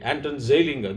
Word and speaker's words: Anton Zeilinger: If his words have to be pronounced properly, Anton Zeilinger.